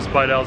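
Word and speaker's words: Bill Speidel: tour with the build Speidel I mispronounced it earlier but bill supply dolls underground tour and that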